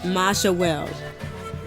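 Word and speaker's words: Mayahuel: Pronounce it. Majawel.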